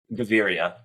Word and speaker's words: Gaviria: your host and today I'm joined by gavier hopefully I pronounce that correctly I'm not really the best with like Spanish how do you pronounce your last name gavia gavia gavia okay thank you yeah thank you